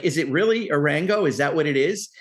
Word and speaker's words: Arango: like, is it really Arango? Is that what it is? And he said yes. And I think you've said that. So it's not, I thought it's not Arango. It's not Aranjo. It's Arango.